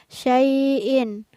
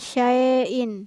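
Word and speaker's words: شيء: sukun hai nah disini cara membacanya adalah sein bukan shine hai kemudian pak ada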